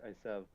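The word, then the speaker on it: עשו: In Hebrew it's Esav. Even though most Jews today won't pronounce the Ein.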